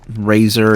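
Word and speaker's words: Razer: nice gaming mouse um razor it's spelled r a z r is the company name and uh that should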